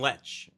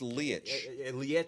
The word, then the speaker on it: Leitch: is David Leitch wrong I've been seeing letch I think it's Lee okay I hated saying